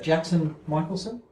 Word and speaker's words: Jackson Michelson: Jackson Michelson. Yeah. Yes, I've pronounced that correctly.